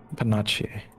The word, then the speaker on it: panache: I will use panache. How do you pronounce this?